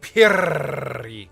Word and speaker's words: Upiri: You gotta learn how to roll your R's. Upiri.